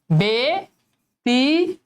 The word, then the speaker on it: ব্যতীত: শেষ ঠিক আছে ব্যতীত তাহলে একার হবে বেতিত ত শেষ ব্যথিত বেথিত